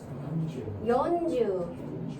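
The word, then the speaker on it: よんじゅう: 그래서 얘를 우리식 생각으로 해서 산주, 연주, 너무 산, 연 이렇게 짧게 하지 마시고 좀 길게 해주세요.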